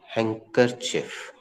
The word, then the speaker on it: handkerchief: लेकिन बोलते समय D साइलेंट होता है और R भी थोड़ी मात्रा में साइलेंट होता है। हैंकरचिफ, हैंकरचिफ, शॉर्ट में हैंकी।